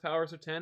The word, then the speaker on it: Powers of X: ten one number one powers of x is pronounced powers of ten according to hickman yeah uh and two